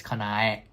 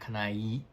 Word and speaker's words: Kanae: I'll say kanai, but it's kanai, not kanai.